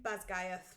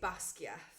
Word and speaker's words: Basgiath: Just so interesting that you say it like that, because I say Basgiath. So I did a mixture of reading the book and listening to audio book. So my pronunciations are from the audio book.